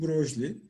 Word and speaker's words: Broglie: Broglie, okunuşu Broglie, elektron ve diğer küçük parçacıkların hem tanecik hem de dalga özelliği olduğunu önerdi.